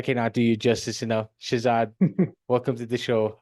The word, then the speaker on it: Shahzad: for the first time it's pronounced Shazad almost got there what is the story